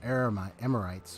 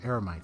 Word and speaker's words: Eremites: I mean, you just heard she just went ahead and fended off some Emirites, or Eremites, as you pronounce it.